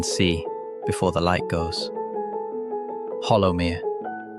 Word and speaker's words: Hollowmere: Hollowmere. I am told the name with the local soft second syllable, like hollow, but as though the word itself is a little hesitant.